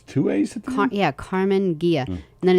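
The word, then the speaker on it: Karmann Ghia: and it's spelled k a r m a a n oh it's two a's yeah carmen gia and then it's g-h-i-a and i think it's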